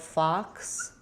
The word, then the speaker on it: fox: The vowel letter O says the ah vowel here.